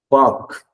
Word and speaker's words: park: And then this one, the R is silent. You don't say the letter R. You don't pronounce it. Park. It's not park. The sound varakurad. It's not there. The sound is not there. Park, right?